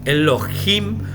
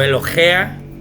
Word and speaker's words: Elohim: Elohim o Elohea, como también se pronuncia, Elohea es autoridad.